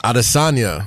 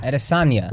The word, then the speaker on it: Adesanya: Adesanya. Adesanya.